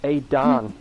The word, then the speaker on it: Adan: Oh, I have done your name wrong. I'm so sorry. It's Adan.